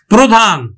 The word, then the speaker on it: প্রধান: যেমন দেখো, প্রধান, প্রধান, প্রধান, প্রভাত, প্রভাত। এখন দেখো প্রধানটা কেমন উচ্চারিত হচ্ছে, যে আদ্য রফলাযুক্ত অ, আদ্য রফলাযুক্ত অ ও এর মতো উচ্চারিত হবে, তাহলে উচ্চারণ হবে কিন্তু প্রধান, প্রধান।